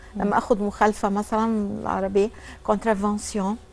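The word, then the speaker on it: contravention: حضرتك في مثلا كلمه مخالفه، لما اخد مخالفه مثلا العربيه كونترافونسيون كونترافنسيون.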